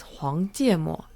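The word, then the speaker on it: 黄芥末: The Chinese pronunciation is 黄芥末.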